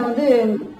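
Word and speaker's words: vas: நான் வான் தான் ப்ரொனவுன்ஸ் பண்றேன், ஏன்னா பிரெஞ்சுல வந்து லாஸ்ட் லெட்டர் ப்ரொனவுன்ஸ் பண்ண கூடாது. சோ விஏஎஸ் அதுக்கும் வா தான் சொல்றேன்.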